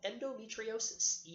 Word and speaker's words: endometriosis: women are going to experience is thing called endometriosis do em eve t RI o sis and